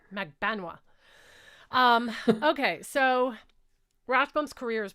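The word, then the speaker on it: Magbanua: I finally learned how to say it. The other day they were like, it's Magbenois.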